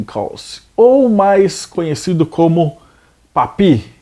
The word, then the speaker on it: Papus: ou mais conhecido como papi se escreve papos mas se fala pap janelle nasceu em 1865